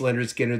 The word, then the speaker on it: Lynyrd Skynyrd: at all the albums and I'll reiterate this pronounce Leonard Skinner the debut uh I'm moving again yeah Pookie